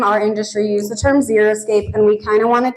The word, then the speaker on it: xeriscape: First of all, most people can't say it right. They say xeroscape, and that's not how you say it.